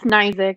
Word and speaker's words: Knizek: It's Knizek.